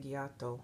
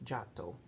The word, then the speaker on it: Giotto: de Beaune you know I know most of us would want to say Giotto but it's Jack doe so there you go